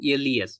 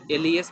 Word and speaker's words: les: vowel, and plural form les. We pronounce as le.